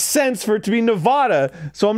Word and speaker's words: Nevada: Because it comes from the word Nevada, which is Spanish, and that's how it's pronounced.